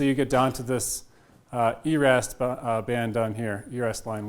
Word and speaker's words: yrast: And so you get down to this ERAST band down here, ERAST line, which is the minimum excitation energy for a given spin and parity. Spelled YRAST, pronounced ERAST because of Swedish origins, I'm led to believe.